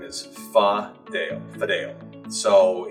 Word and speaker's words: Fadale: pronounce my name is fa dale video so it's interesting there's many pronunciation fidali fideli but is how i pronounce it today when you were